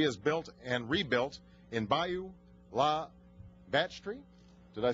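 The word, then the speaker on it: Bayou La Batre: clinic that she has built and rebuilt in Bayou La Batterie. Did I say that right? Well, tell me how to say it. Bayou La Batterie.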